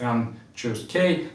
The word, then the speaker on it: n choose k: And once again, it is pronounced as n choose K, and it is written like this.